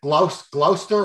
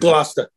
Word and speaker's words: Gloucester: Now, we pronounce it Gloucester or Gloucester, something like that. Gloucester. You know, most people from other areas of the USA would see that and say Gloucester.